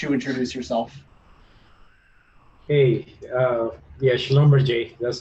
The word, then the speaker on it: Schlumberger: Hey, yeah, Schlumberger, that's how you're supposed to pronounce it.